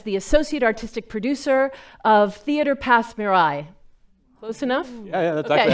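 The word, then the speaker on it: Théâtre Passe Muraille: 3 years as the associate artistic producer of Theatre Pass Mirai. Close enough? Yeah, that's actually how it's pronounced.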